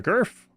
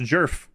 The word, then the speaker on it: girf: hurry up S the girf sorry it's pronounced jerf the jerf the girf with